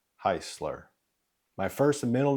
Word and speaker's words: Hisler: To help you out, it's pronounced Heisler.